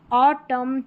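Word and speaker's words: autumn: इसको म पढ़ेंगे क्योंकि एन यहां पर साइलेंट है। लास्ट में आएगा यह वाला पैटर्न। ठीक है? ऑटम कॉलम हिम यहां पर है कंडम सोलम।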